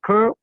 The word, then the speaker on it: curl: Suena, o sea, es una letra U, pero la pronunciación es similar a la de una E, de alguna manera, para los hispanohablantes, curl, ¿sí?